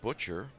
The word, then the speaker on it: Butcher: And I'm told that Jeffrey Butcher is how you pronounce it.